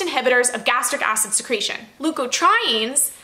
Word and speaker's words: leukotrienes: Leukotrienes, that is how Merriam-Webster told me to pronounce it, are inflammatory mediators released by mast cells, and some MCAS patients may be helped by leukotriene inhibitors.